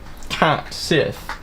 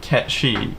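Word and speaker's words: Cait Sith: It's definitely not Cat Sith. No, it's definitely Katchchi.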